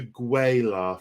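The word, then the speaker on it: Gue'la: mr scott thank you i only know the gweyla from there i know it it's it's how it's pronounced on the audiobook of one of the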